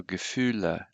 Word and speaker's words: Gefühle: Remember always to pronounce all the letters. So Gefühle.